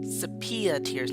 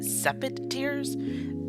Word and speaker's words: Sepia Tears: playing a game called Sepia Tears. No, I called it Sepid Tears. That was the wrong pronunciation of the game. It is, I do believe now, if I got it right, sepia tears.